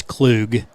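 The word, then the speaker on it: Klug: something and I said okay how do you pronounce it and they said you know it's clug so I always tell Shelly if you don't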